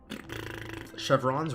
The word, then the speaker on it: Chevron: There is one unique specifically called Chevron's Wraps. Stupid ass name that nobody ever fucking pronounces. It's actually pronounced Chevron, but people aren't fucking French like me.